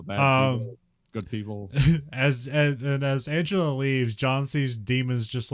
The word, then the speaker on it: Angela: I remember I always thought it was Angela Merkel, and they said, no, it's actually just pronounced Angela.